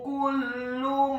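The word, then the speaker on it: كل: Ayatma'u kullu mari'in minhum. Kata kullu mari'in minhum, huruf kafnya dibaca tipis, dhammah 1 harokat.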